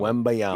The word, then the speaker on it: Wembanyama: Wembanyama. Chumbawamba. Yeah, Wembanyama. No, Wembanyama.